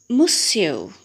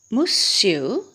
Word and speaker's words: Monsieur: So the first word is to be pronounced like this, Monsieur. Monsieur, you can say again, yes, Monsieur.